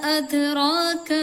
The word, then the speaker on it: أدراك: വമാ അദ്റാക മൽ ഖാരിഅ. വമാ അദ്റാക മൽ ഖാരിയ. അത് ദാലിന് ഇവിടെ സുക്കൂനാണ്, അത് കറക്റ്റ് ഇങ്ങോട്ട്, അത് കൽക്കലത്തിന്റെ അക്ഷരം ആയതുകൊണ്ട് തന്നെ കറക്റ്റ് ഉച്ചാരണം പുറത്തേക്ക് വരണം, അത് തന്നെ വരണം.